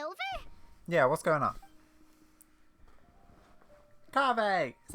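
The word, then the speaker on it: Kaveh: and inviting is over yeah what's going on coffee is how you say his name ah you're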